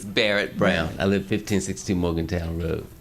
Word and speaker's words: Barrett Brown: Burnett Brown, am I pronouncing that correctly? Not quite, but that's close enough. Correct, please correct me. It's Barrett Brown.